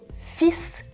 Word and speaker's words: fils: avec les boutons mon fils les fils fils fils dans le premier exemple attention je ne prononce pas le "l" oui c'est irrégulier mon